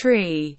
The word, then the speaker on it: Tree: The pronunciation of the digits 3, 4, 5, and 9 differs from Standard English, being pronounced tree, fower, five, and niner. The digit 3 is specified